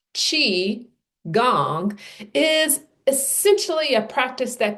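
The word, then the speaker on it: qigong: Chiang, pronounced chi gong is essentially a practice that combines three elements.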